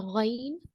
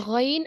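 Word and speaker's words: غ: The ghain and kha, we use our upper portion of the throat when we pronounce these 2 letters.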